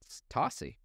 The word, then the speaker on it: Tocci: But we just decided to pronounce it Tocci.